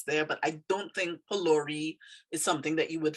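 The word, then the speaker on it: phulourie: of the word but we don't pronounce the ph there as f like an f sound we pronounce it like a p sound like a p sound and um so we say polari polari is a is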